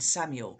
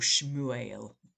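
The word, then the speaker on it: שמואל: of the Lord and Samuel or shuel uh which is more literally how it's how it's should be pronounced um is means God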